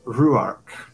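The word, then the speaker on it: Rhuarc: refers to a man um his name is ruark pH z-u-y no actually spelled the same as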